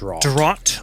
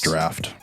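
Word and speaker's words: draught: Celerity fortitude and potence I think it's pronounced draft is it really draw d-r-a-u-g-h-t yeah that's the that's the you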